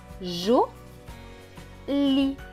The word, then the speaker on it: joli: Le E à la fin ne se prononce pas puisqu'il est écrit en bleu. Donc ce mot va se lire joli, joli, joli.